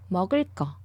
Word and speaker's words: 먹을 거: 발음 르 and 그 when they go together, 그 becomes 끄, double 끄. Hence, 먹을 거.